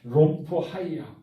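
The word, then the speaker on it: ῥομφαία: 이것은 마귀의 유혹을 나타내는 호신용 칼을 마카리아라고 하는데 이 롬파이아라고 하는 정확히 발음하면은 롬파이아.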